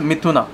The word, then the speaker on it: Mithuna: How do you pronounce it again? Paul John Mithuna.